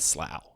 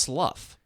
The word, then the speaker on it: Slough: I pronounced it slew a couple of times because it's spelled like through, but it's...